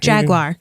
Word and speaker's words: Jaguar: Do I say it wrong? No, you say fine. Jaguar. Jaguar. That's what it is. Okay, good. It's like the car.